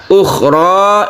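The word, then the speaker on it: أخرى: Ukhra ini membacanya 1 alif saja karena dia itu bukan mad alif disukun tapi dia mad tabi'i saja.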